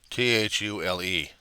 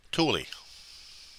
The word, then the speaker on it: Thule: Thule. So Thule without the H.